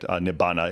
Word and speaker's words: nibbana: Nibbana is the Pali pronunciation.